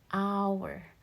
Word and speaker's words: hour: a consonant okay however if we use our listening skill then h here sounds like a ah which is a vowel sound right an hour right so it's like ah an hour ah right so this is an exception right and then likewise